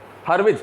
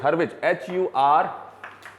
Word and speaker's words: Hurwitz: हर्विज, हर्विज HURWITZ, हर्विज, इट इज विड्ज।